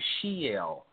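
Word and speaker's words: Sheol: be thrust down into Shel now this word is spelled s h e o l but if we use translatory Linguistics phonetically it is very similar to Shell that is the story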